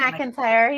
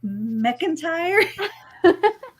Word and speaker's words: McIntire: pronounce your last name McIntyre you said it right the first time I was trying to say it without the a in there and I was like McIntyre I just went Reba